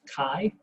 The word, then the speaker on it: chi: is written chi but is pronounced chi to be rhymed with hi some people say chai squared and that apparently